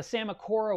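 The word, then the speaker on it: Psammocora: into that in a few minutes but the samakora was a really cool thing to see spawn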